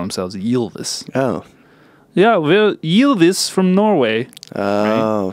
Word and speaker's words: Ylvis: It's pronounced Ylvis. Ylvis.